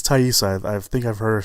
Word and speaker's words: Taissa: everyone always mispronounce donate I think it is tie you sighs I think I've her